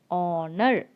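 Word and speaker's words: honour: n o u r here also h is silent so you have to start with the o sound honor honor say it once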